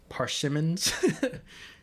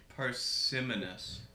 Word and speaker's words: parsimonious: Ooh, how do you say this word? Parsimons? Parsimonious. Parsimonious explanations.